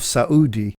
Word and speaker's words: Saudi: for some time Qatar noted the separated syllable pronunciation of Saud II in common with all